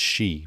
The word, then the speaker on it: Xi: know what i want to say but it's she because that's what the x is so anyway